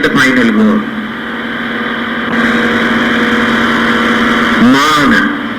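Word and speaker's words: māna: Mana. Do you know the meaning of mana? M-A-N-A. Mana. No, that is mana. Same spelling but different pronunciation.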